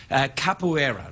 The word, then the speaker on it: capoeira: schooled in the brazilian martial art known as capoeira that's how it's pronounced and that capoeira where you get your opponent to submu submut